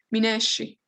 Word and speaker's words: Mi wnes i: Escucharon acá el mi, unes y acá en el norte decimos mucho neshi. Nos gustamos mucho ese sonido de sh. Mineshi, mineshi, neshi.